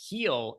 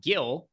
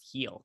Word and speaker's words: Gil: name, but rest assured, his last name is pronounced heel and not Gil.